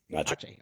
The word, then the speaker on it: Aceh: Aceh, okay. And oversaw U.S. government response to the December 2004 Aceh tsunami and March 2005 Nias earthquake.